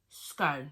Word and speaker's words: scone: Scone. I say it like cone, yeah, scone.